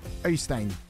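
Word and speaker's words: Øystein: That's the way English people would do it. Oystein is how you do it in Norwegian.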